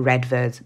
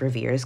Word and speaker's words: Redvers: called ravier buer or reders buer I'm just going to go with rivers because that's how I saw his name being pronounced somewhere else and he is a